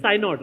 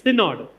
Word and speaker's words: Synod: I'm pronouncing that correctly. It is Synod, right? It's Synod.